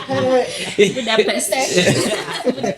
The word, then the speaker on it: Budapest: Well, that's how you pronounce it. Yeah, it's Budapest. Oh, wow. Budapest.